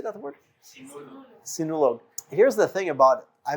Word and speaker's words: Sinulog: Sinulog.